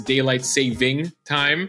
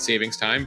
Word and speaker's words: Daylight Saving Time: it correctly it is Daylight Saving Time many people like to call it savings time but if you're being accurate here it is Saving Time uh and uh many